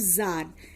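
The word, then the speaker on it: tsar: इन 1914 there was a rule of जार Nicholas second, इसको बच्चों जार पढ़ते हैं, इसमें टी साइलेंट है।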